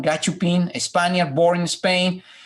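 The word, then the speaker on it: gachupín: If you say to Spanish gachupin, and that's the pronunciation, gachupin, a Spaniard born in Spain, is a derogatory term, right?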